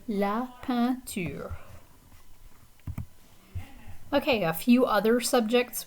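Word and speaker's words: peinture: musique la panteur okay so the the e i combination here is a nasal vowel so it sounds like la pantier okay a few other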